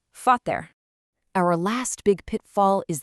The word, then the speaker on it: Vater: It's almost always pronounced like an English F. So, your instinct is going to be screaming at you to say "Vater", but your new programming knows better.